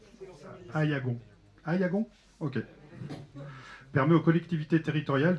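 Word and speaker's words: Aillagon: fondations dite loi je sais pas si on prononce comme ça. Eagon. Aïagon. Aïagon OK permet aux collectivités territorial de bénéficier de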